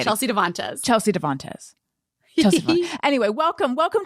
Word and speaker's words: Devantez: weird i even wrote i even wrote the middle syllable in all caps and then when i said it i put the emphasis in the wrong place devontes devontes it doesn't even